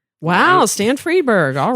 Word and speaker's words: Freberg: David parro directed by Rob rifon um Stan freeberg is that how you say his name yeah